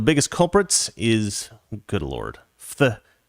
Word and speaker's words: phthalates: culprits is good Lord phthalates phthalates I think the pH is silent phthalates a chemical found